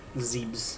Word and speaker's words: Zebes: If Prime were to ever take place on Zebes again, if that's how you say it, Zebes, I think is how you pronounce it.